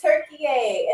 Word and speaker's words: Türkiye: to my attention, but it is not pronounced Turkey. I've been saying Turkey all my life. It is pronounced Türkiye.